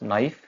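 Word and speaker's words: know: Next है हमारे पास नो, के साइलेंट रहेगा, सेम रूल है यहाँ पे, एन से पहले आ रहा है एंड स्टार्टिंग वर्ड की स्टार्टिंग में आ रहा है।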